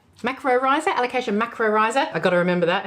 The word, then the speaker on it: Alocasia macrorrhizos: Alocasia Macrorrhizos. Alocasia Macrorrhizos.